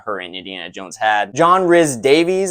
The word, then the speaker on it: John Rhys-Davies: John Rhys-Davies, I believe is how you say it, as Sallah.